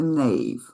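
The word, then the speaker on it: knave: The K the K is silent.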